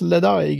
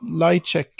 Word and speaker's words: Ledaig: Jag hade väl de här som inte uttalas Ledaig utan Lightcheck eller något sånt.